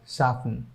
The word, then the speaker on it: soften: Let's go to the second one, which is ending with FTEN, and that will be pronounced as soften.